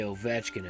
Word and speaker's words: Ovechkin: You have to know how to say Ovechkin at this point.